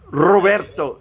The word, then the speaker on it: Roberto: You have to roll your R's. Yeah. So how do you pronounce Robert? Roberto. Say Roberto. Row your boat.